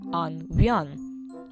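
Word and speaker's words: an bhean: Now if we add the definite article in front, it's now pronounced an vian.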